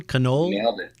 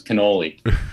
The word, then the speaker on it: Connole: here with you and did I get your name right then canola you nailed it your name is probably one of the most mispronounced names in the history of last names right every sports team I played on it was Canole right you know it sticks